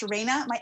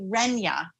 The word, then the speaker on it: Renya: I hate to burst the elf sandwich and Jerry stuff, but my name, although it looks to seem to be pronounced Raina, my name is actually Renya.